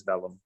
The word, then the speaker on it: vellum: So when you said velum, I didn't connect the dots.